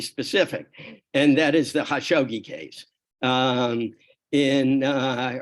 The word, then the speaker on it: Khashoggi: and that is the hashoggi case um in uh or kashukchi as I believe it's pronounced in the Arab world um the journalist who